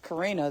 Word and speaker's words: Corinna: So then I just was like, okay, Karina then. But really, my mom named me Corinna. And Corinna is the proper pronunciation of my name.